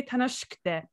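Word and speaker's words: 楽しくて: So they tend to say tanoshikute rather than pronouncing it. E tends to be kind of just not there.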